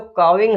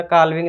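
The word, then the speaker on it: calving: और जो काविंग है वो क्या होता है? प्रसव की क्रिया। देखो एल साइलेंट है, ध्यान रखना, काल्विंग नहीं बोलेंगे, काविंग है।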